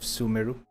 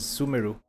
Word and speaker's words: Sumeru: My pronunciation of Japanese sounding words have been altered because of the correct pronunciation of Sumeru. Like I thought it was Sumeru, but it's actually Sumeru.